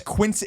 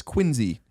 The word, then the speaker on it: Quincy: that was one like I thought it's Quincy it's spelled Quincy but it's quiny you know like that's